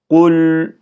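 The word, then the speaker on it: قل: sakin lamlar hareke vermiyoruz kul kulü kulü değil kul hüvallah hüvel bakın hü de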